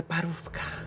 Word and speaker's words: parówka: What do you think of the parówka?